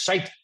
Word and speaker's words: shite: yeah no that's sheet shite shite that's how you say it in Ireland that's shite that's shite that's shite